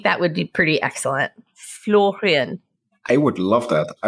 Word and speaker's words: Florian: your name sure like it's floran C if you want to be super correct about the pronunciation in German floran or floron in French is also perfectly fine is there a nickname